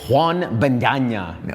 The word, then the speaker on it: Juan Bendaña: All right, we are here with one of my favorite people, Juan Bendaña. How did I say that? In Nicaragua? Is that how you say it? Yes.